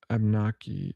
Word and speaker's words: Abenaki: Abenaki, yeah, I think that's how you say it. Also, Abnaki. There's another way to pronounce it. Abnaki.